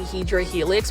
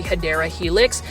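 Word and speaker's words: Hedera helix: doing plant shopping videos I was actually saying hedra Helix when it was actually hadera Helix it's um a long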